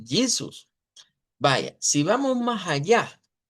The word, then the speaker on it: Jesus: ¿Cómo suena entonces esta J? No suena como la J del español, suena entonces como I, vea, porque decimos Jesus.